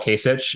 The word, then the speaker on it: Kasich: george voinovich and then john kasich who people in cleveland will call kasich and it sounds like they're mispronouncing his name but it's actually like a term of endearment so um we have